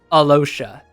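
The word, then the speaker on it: Alyosha: Why is there a Y in his name when it's pronounced Alosha?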